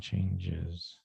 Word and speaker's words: changes: change one thing here chance says this is actually a z sound changes changes yeah it's not a really strong z but it is it isn't an s so it's not